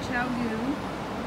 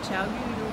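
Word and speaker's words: ChiaoGoo: So, just so you know, I bought these little, they're from Chowgu. I said it right this time. Chowgu.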